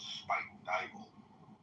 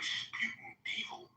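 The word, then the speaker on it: Spuyten Duyvil: Like there's a neighborhood in New York in the Bronx called Spike Dybel, but when you look at it phonetically, it looks like Sputin Devil.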